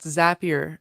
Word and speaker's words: Zapier: One, Zapier makes you happier. That's true. Definitely. It is spelled Zapier but it's pronounced Zapier like makes like it makes you happier.